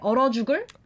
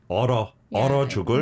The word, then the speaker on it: 얼어죽을: But it's more natural to kind of say 얼어죽을. 얼어죽을. Maybe it sounds like and 러, not 얼 and 어.